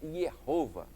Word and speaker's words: Jeová: A pronúncia mais certa seria Yehová no hebraico, né? Yehová, Jeová, traduzido por Senhor.